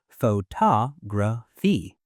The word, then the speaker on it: photography: But the word photography has stress on to photography.